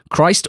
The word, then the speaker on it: Christ: to my club, yeah, I even got an email from Jerome at BBC Oxford with pronunciations, as I often do when we have sign players, and it seems like his name is Christ.